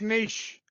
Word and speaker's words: niche: movie carved out a niche man there's 100% truth about that so uh it's it's a niche that was more successful it's pronounced Nish it's a niche I don't care it's